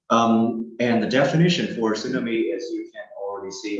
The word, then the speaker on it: tsunami: mute sound so uh you're not going to pronounce that the T sound but not that not assuming me but it's going to be tsunami like there is no T here okay tsunami um and